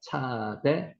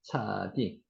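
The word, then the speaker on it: צדי: 18번째 단어가 차대라고도 하고 차디라고도 합니다. 차대, 차디. 이것도 끝에 가면은 굽었던 게 펴집니다. 차대, 차디. 요게 한글 발음은 치읓입니다.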